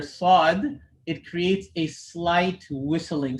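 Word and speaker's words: ص: sound for the letter sod when pronouncing the sod the back of the tongue gets raised to create that heaviness if you don't raise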